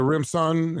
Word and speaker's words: Rimpson: you for having me bro is that a rimson is that it am I pronouncing it right you got it right man